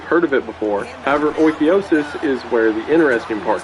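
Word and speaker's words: Oikeiosis: Oikiosis, and according to the internet that is how it's pronounced, I looked one up this time, is closely related to ideas of Stoicism.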